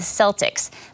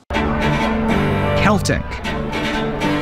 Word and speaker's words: Celtic: For years, English speakers pronounced this word with a soft C in all contexts.